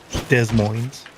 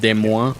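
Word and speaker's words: Des Moines: uh event Yeah, the local it was in De Moines the Wells the Wells Fargo Event Center in Desmos, Iowa. Um, that's how you say it. Desmos. Desmos. Yeah. Proper. Demo. Actually, it's French. It's pronounced Demo.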